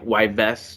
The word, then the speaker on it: Yves: I mean, Yves Tumor. You know, you would have known that it's silent. It's Yves Tumor. Yeah, Yves.